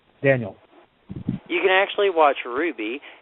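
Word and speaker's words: RWBY: you can actually watch Ruby and it's spelled r WBY Y and it's actually American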